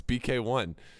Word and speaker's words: BK1: It's not B Cone, it's BK1.